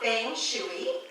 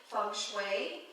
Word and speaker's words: feng shui: So it's not feng shui. I know, we want to do it phonetically. And to tell you the truth, I do my best to pronounce it authentically, feng shui, and that's, again, phonetically how it would be pronounced.